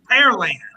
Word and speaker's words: Pearland: No, say it the right way, Jay. It's Pearland. Say it the right way, Jay. It's Pearland. Pearland.